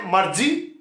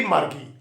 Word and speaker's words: Margie: are totally named um the pronunciation differs somebody or someone may say marji because g i and e g is a weak consonant the pronunciation may be marji and maybe margie whatever you like margie even wrote about